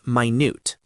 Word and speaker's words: minute: If you are talking about details, use minute. Pronounced minut.